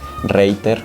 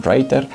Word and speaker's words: Reiter: Esto es de la marca Reiter o Reiter, como lo quieras pronunciar. En general es de origen checo, entonces bueno, sería más bien Reiter, pero bueno, ya te